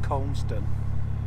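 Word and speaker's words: Cholmondeston: It's spelt Chalmston or something like that, but it's pronounced Comston, I think.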